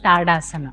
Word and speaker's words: Tadasana: called tadasana or tadasana or tadasana the right pronunciation is tadasana tadasana is similar to samasthiti both of them